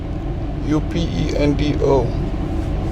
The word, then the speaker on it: Upendo: we can figure out yopendo is that how it's pronounced somebody in the comments from ken again let me know that's how it's pronounced u-p-e-n-d-o is it eupender upendo yeah that's the brand that i'm